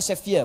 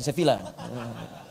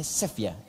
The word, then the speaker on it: Sevilla: Bacanya Sevilla, bukan Sevilla. Sevilla. Ya. Bacanya Sevilla.